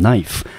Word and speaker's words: knife: 边后面 knife 我们念成 knife，那 k 是不发音的。